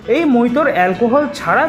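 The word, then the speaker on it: mojito: দিল হাবড়া স্টেশনের দু নম্বর প্লাটফর্মের উপর নাকি মাত্র 40 টাকায় মাটির ভারে লস বিক্রি হচ্ছে পাশাপাশি আবার নাকি মাত্র 30 টাকায় মকটেল বিক্রি হচ্ছে এই ফাঁকে আপনাদের কিছু বলে রাখি অনেকেই মকটেল কে মজিটো বলে থাকেন যেটার প্রোনাউন্সিয়েশন কিন্তু একদমই ভুল কারণ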